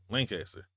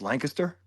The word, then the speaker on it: Lancaster: Lancaster. Okay, it's Lancaster, Uh-huh.